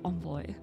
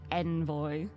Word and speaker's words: envoy: it's from French yeah it's like the French pronunciation like on boy but it's it just surprised me because the dictionary in like the pronunciation guide in the dictionary said just like Envoy but that sounds wrong